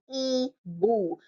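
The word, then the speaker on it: hibou: so the first word is an owl H is silent you start with e boo so that gives you a clue I is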